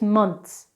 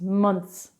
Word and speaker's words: months: vegetAble it's vegetable months we don't actually pronounce the th in this it's months months munts months and another one is